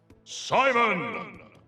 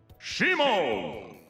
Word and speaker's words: Simon: a nice segue there are four characters that have the same name in the japanese and english versions of the game but are pronounced differently by the announcer lucina lucina simon shimon this is obviously because things are pronounced differently in different languages i just think it's